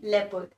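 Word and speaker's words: leopard: होते हैं ऐसे लेपर्ड लेपर्ड के पे नहीं लेपर्ड लेपर्ड इस नोट दी प्रनंसीएशन जैसे लायन को लायन नहीं करते लायन पढ़ने हैं ऐसी इसको लेपर्ड पढ़ने हैं लियो पार्ट में है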